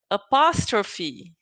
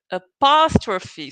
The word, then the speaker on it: apostrophe: The syllable that you say stronger, right? So you are going to say apostrophe, apostrophe. So you have to put the emphasis in the second syllable. Okay, so the second syllable is the most important one.